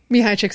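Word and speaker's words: Csikszentmihalyi: funny way of remembering I was like chicks and knee-highs yeah everybody's like everybody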